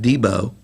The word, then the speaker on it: DB: from the valley we have DB movers last year's Champion's pronounced debo and the broadhead bombers